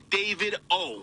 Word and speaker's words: Davido: It's pronounced David O. All right, not DeVito. All right, not Davido. It's David O.